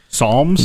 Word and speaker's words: Psalms: This is how do you pronounce that? The Psalms. Psalms.